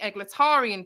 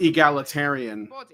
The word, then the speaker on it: egalitarian: whole time criticizing the egletarian position which I would say it's pronounced egalitarian eglitarian eglletarian I like that that sounds like a character from a pulp novel.